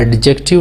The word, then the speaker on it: adjective: यहाँ पे इसमें डी जो है, ये डी जो है वो साइलेंट है, इसे एडजेक्टिव कहा जाता है, एडजेक्टिव नहीं पढ़ा जाता है।